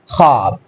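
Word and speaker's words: خواب: पढ़ा ना जाता हो जैसे देखिए मैं इसको पढ़ तो सकता हूं ख्वाब लेकिन इसे पढ़ते हैं हम ख्वाब इस तरह से ये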